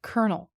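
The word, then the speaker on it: colonel: But in reality, this is gauge, and this is choir, and the pronunciation of this word is kernel.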